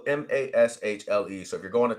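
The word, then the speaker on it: Mashle: it's pronounced it's spelled m-a-s-h-l-e so if you're going to type it in it's spelled different but I believe they say Mash I I think that's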